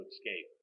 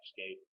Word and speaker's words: escape: allow my client to escape escape not xscape no ex escape I get people all